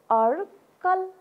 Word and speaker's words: अड्कल: निस्केको अर्को पनि उच्चारण गरौँ त, अर्को शब्द अड्कल अड्कल। यो के हो, आधा ड हो अड्कल।